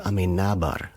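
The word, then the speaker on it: Amenábar: So Alejandro Amenabar, the accent is on the na, I believe.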